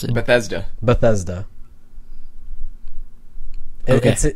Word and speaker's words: Bethesda: Bethesda. Bethesda. Okay. It's pronounced exactly how it looks.